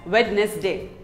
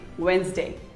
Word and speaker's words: Wednesday: Most of us say it as Wednesday, but it is not Wednesday. It is actually Wednesday.